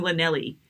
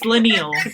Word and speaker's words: Leneille: I don't know but don't call me Lenell it's lenal it's not lelli you know so but